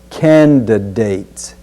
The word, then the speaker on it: candidates: next we'll say candidates be sure to get that first D sound as in candidates candidates let's also be